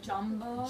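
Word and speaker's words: Jambo: Jumbo.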